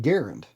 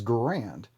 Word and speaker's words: Garand: name m1 garand because garand is not how the inventor pronounce his name he pronounced the name garand but the literature on the immigrant that went out for the military had a a pronunciation log or chart or whatever that showed that you pronounced the name the rifle as grand but the inventors name was garand I guess I'm sure